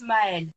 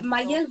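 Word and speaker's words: Maëlle: Everyone, because it's Maelle in French. Maelle, but no one could say it properly. Everyone would say Mayel. So, yeah, Mayel, because the A and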